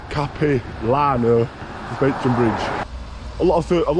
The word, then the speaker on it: Capilano: on my way to I believe you pronounce it cap Lano SP and Bridge a